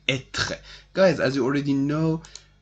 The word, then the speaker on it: être: Okay, so the infinitive is être. The infinitive is called être. It is pronounced like that. Être, être.